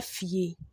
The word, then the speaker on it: fie: Please pardon me, there was a mistake here. The fie has been fierce. I think it's a typing mistake, so let's take note. But the right thing should be F-I-E. F-I-E. E-A-F-I-E. So it says Kofi befie. That's how you pronounce it.